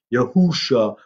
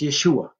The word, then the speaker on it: Yeshua: who keep saying, well, his name isn't Yeshua, it's Yahusha or Yahushua or all these other crazy things coming from. If you go to the land of Israel, it's Yeshua. That's how it's said.